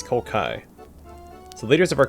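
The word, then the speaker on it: Kolkhoz: I've been saying Kolkoj. It's Kolkai.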